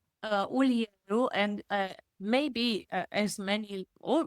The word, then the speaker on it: Ulieru: how do you pronounce your last name? Ulieru, and maybe as many, or maybe some of your listeners know, I go by Dr.